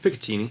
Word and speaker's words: Picatinny: I had to get a Picatinny. Is that how you say it? Picatinny.